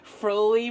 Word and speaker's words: Froli: Froli rhymes with holy for everybody who didn't know.